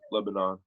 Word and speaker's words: Lebanon: the actual like way it's pronounced is Lebanon.